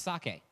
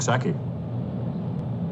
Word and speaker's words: sake: a brewery uh and one important thing it's pronounce sake um there are a lot of different ways